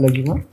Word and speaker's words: Laghima: Please come, Laghima. Please sit down. Good morning, sir. Have I pronounced your name correctly?